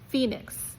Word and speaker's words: Phoenix: Sometimes H can even be part of an F sound when it's part of PH like um Phoenix, the city in Arizona is ph for example.